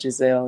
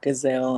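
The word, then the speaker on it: Ghislaine: pronouncing her name wrong it's not giselle it's um gazelle i think it's pronounced gazelle um yeah y'all know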